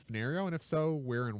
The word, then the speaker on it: Fenario: And there he suggests that Fenario is a perfect place name. If you need a generic name for an indeterminate place because it has 4 syllables, fen, ner, re, o.